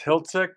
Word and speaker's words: Hiltzik: And the proper pronunciation of your name is Hiltzik?